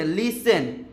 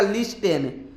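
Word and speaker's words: listen: लिसन ठीक है ना लेकिन अगर हम लोग इसका उच्चारण करें तो होगा लिस्टन लेकिन वह गलत उच्चारण हो जाएगा ठीक है ना इसका एक्चुअल उच्चारण होगा लिसन लिसन का मतलब होता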